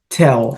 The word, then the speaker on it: tell: precisa pessoal olha só a gente acaba colocando no som do L na Lingua inglesa um som de u e não é esse som tá pro inglês o